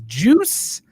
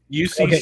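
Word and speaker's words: Juuse: I'll scroll it across the ticker, and you pronounce this first name. You ready? I'm ready. That is Juice Saros. That's George Saros's cousin, Juice. No. UC Saros.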